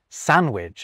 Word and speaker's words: sandwich: Although some people might pronounce the D in the latter of those, just like they might pronounce the D in sandwich, although others definitely don't.